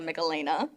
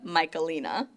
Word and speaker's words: Michelina: it is difficult but my name is not Melena it's michelina it's all it's all